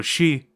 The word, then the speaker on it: Sidhe: However, a race of elves and keepers of the tomes of power called the Sidhe, which is spelled like this because the Irish are weird, refused to bow down before Desperil and were branded as heretics as a result.